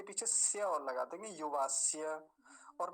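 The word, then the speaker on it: युवास्य: विशेष बताता हूं आपको क्योंकि य का पर ज्यादा ध्यान दिया नहीं जाता तो बहुत गलत उच्चारण हो जाता है युवास ऐसे जल्दी बोल के निकल जाते हैं युवास यु वास्य नहीं युवास य य का स्पष्ट उच्चारण आना चाहिए पीछे य वास्य अगला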